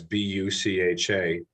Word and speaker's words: Bucha: You know, if you look at Bucha and the territories that have been liberated by the Ukrainians from the Russian invasion, it's Bucha.